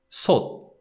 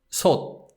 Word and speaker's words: 솥: But in Korean, the consonant sound stops and doesn't release. And so therefore we call it unreleased 디귿 sound.